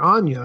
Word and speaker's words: Anya: Is it Anna or Anya? How do you say her name? There's a Y in the middle of that name. Well, I started to say I thought it was Anya Taylor-Joy.